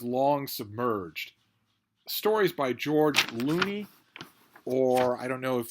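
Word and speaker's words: Looney: Thomas Loney, but we've been told reliably that his family pronounced it Loney.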